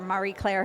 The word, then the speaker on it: Marie Claire: a tech editor for Marie Claire who is our and I keep pronouncing it wrong i know but i keep going maria and someone corrects me